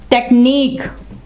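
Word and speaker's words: technique: इसके अलावा टेक्निक, टेक्नीक, टेक्नीक, ठीक है। अब देखिए यहाँ पे यूई लिखा गया है लेकिन आवाज नहीं देगा।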